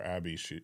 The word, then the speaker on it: Abey: Actually, my daughter Abby, her name is spelled Abey from Abbey Road.